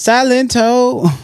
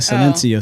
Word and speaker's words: Silento: What the His name is Silento. Not Sencio.